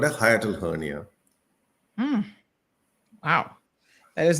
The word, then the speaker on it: hiatal: to see yes what is uh is it pronounced I hate steel hernia hiatal hernia hernia h-i-a-t-a-l um it the the word